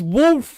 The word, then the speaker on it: wolf: It's supposed to be pronounced with a U sound.